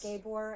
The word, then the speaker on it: Gabor: Gabor, I think is how you say his first name. Okay. But I like Gabor better.